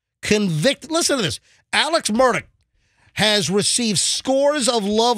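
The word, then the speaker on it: Murdaugh: said like Alex and then he said it's murdick murdick so murdick he that's how he pronounced it but it looks like a murder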